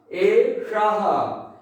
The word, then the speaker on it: एषः: तो एतत् यह पुल्लिंगम प्रथमा एक वचन एषः, शः एषः, यहां मूर्धा श का उच्चारण होगा एषः।